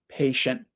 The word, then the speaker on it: patient: patient like I said for American people often the tea at the end of the word the tongue just goes up and stops the air patient patient but for I think most British people the tea will come down and the air will come out patient patient so that's the first